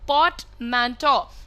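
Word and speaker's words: portmanteau: को हम कहते हैं पोर्टमैंटो. सो इसका प्रोनाउंसिएशन देखिए, पोर्ट का आर, मैं हमेशा कहती हूँ आर पे बहुत ज़्यादा जोर ना डालें, तो पोर्ट, और फिर MAN, ठीक है, और ये जो आपका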